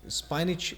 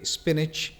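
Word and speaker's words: spinach: इसकी प्रोनाउंसिएशन भी अक्सर गलत सुनने में आती है, जो कि स्पाइनिच लोग इसको प्रोनाउंस करते हैं, जबकि स्पिनच इसका सही प्रोनाउंसिएशन है।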